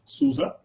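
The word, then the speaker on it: SUSE: highlight how do we say it so it's susa it's a german company and has been around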